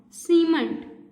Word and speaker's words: cement: But this word has the different first sound, cement. Cement. Only cement begins with an S sound.